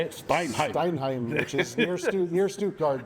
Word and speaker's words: Steinheim: Steinheim.